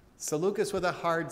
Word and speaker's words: Seleucus: Another comment from Art that says, Ptolemy hijacked Alexander's body and took it to Egypt, and that Seleucus has a hard C. Seleucus with a hard C.